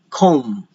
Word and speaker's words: comb: There are a lot of words in the English language that contains a letter M and a B afterwards, but you do not pronounce the B, like comb, dumb.